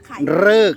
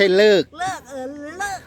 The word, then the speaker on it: ฤกษ์: เลิก ยัง ไม่ มี ฤกษ์ ฤกษ์ นะ ไม่ ใช่ เลิก ฤกษ์ ต้อง ออก เสียง ให้ ชัด ด้วย แล้ว เป็น ยัง